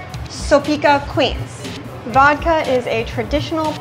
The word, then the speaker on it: Soplica: you oh so this is how do you pronounce it again soopa soopa Queens vodka is a traditional polish drink I